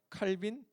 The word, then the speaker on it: 칼빈: 기독교 강요는 뭐 우리가 칼빈 뭐 그 뭐 프랑스 사람이었으니까 뭐 깔뱅이라고 발음하는게 더 맞다 얘기를 하는데 어쨌든 그 뭐이이 사람이